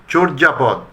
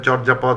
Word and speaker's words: চর্যাপদ: চর্যাপদ, আমি অনেক বিজ্ঞজনকেও বলতে শুনেছি চর্যাপদ, কিন্তু এটা চর্যাপদ হবে না, এটা হবে চর্যাপদ।